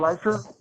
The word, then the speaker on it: Leisure: Is that correct pronunciation, Leisure? Yes, that is. Thank you.